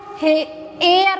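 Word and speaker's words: heir: अब इसको देखो, एयर बोलेंगे, इसको बोलेंगे एयर।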